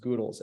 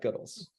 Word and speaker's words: Goodles: crisp and then Jen from goodles it is pronounced goodles everyone not goodles I learned that today um three amazing Brands